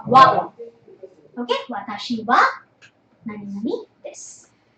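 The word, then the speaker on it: は: So instead of ha, you pronounce it as wa.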